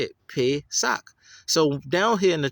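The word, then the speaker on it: פֶּסַח: Anyway, so Pesach. So if you're doing it proper according to what you're looking at, it would be Pesach. But they say Pesach, even though it's a long A sound.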